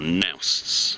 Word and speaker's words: noost: Boats and noosts, or nousts as they pronounce it.